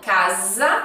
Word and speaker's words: casa: Então, casa, ó, som de Z, né? Casa e calça.